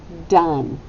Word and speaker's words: done: we go done now what's tricky about this word that's right you don't hear a short o do we you know we hear an uh that would be short u so that would be where that would be mapped we would have a short u sound with a brief right there do we hear the e no we don't we don't hear it at all but we do hear